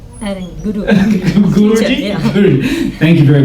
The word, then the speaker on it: Guruji: Shuruji? Guru. Guruji?